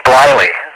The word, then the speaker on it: Bliley: I think you have the right, I think you got the right company in the wrong pronunciation. It's actually Bliley. It was spelled B-L-I-L-E-Y. And it was Bliley, and I think that's what you meant, isn't it?